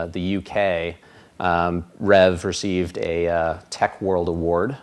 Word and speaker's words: RHEV: market so what is Rev so Red Hat Enterprise virtualization really long name we usually shorten it down to one syllable Rev but in a nutshell